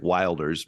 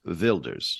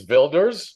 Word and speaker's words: Wilders: ER t uh and it looks like Wilders but you're going with yur vilder I'm very confident that it's Builders yes yet I'm a little